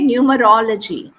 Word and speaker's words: numerology: it try to say numerology numerology numerology h so it's a very often people go wrong here in the stress stress syllable okay so whenever you